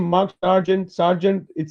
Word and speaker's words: Sargent: it is well it's it's spelled differently so no no no i was on my father's side uh s-a-r-g-e-n-t which is i think from england i'm not mistaken uh but yeah it sounds like a military name and i got i got a lot of grief for that as a child a lot because you know most people don't know how to spell it anyway but it sounds exactly the same so so no kids